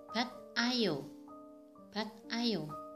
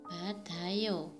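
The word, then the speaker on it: 받아요: Untuk contohnya adalah harusnya dibaca bat ayo, tapi salah karena disambung akhiran diet bertemu dengan vokal a, jadi dibaca badayo. Untuk contoh yang kedua adalah kata mokoyo.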